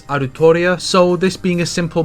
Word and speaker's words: Altria: clear right or wrong nasu created the character and Altria would be pronounced roughly as arutoria so this being a